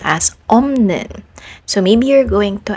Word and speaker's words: 없는: In this word, the second syllable begins with a nasal sound, n. So it will be easier if the sound prior to it will also be pronounced nasally. So instead of saying op, 는, you say 없는 instead for ease of pronunciation.